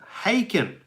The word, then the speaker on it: Haken: I've been corrected remember Harkin rhymes with bacon haken uh fauna is ridiculous